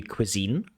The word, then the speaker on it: cuisine: of says cqine but it really should be cuisine. It has a quq and the stress is on the last syllable. Cuisine not quine but cuisine.